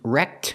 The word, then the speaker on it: wrecked: And I can use wrecked with ED, pronouncing the T sound, as an adjective.